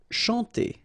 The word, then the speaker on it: chanter: Chanter. Okay, remember, C-N-H here, sh, and then A-N, nasal, en. Chanter.